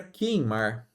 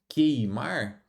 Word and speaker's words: queimar: Continuando, família, nós temos aqui a palavra queimar. Aqui também, ó, nós temos um outro dígrafo, por, ó, esse qu ele não é pronunciado. Ah, o u não é pronunciado, melhor dizendo. Então, quando você diz queimar, como que fica isso na representação?